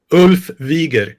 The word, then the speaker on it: Ulf Wiger: Today we have a very special guest, Ulf Wigger. Did I say that right? Pretty close, yeah. How do you say it? Ulf Wieger.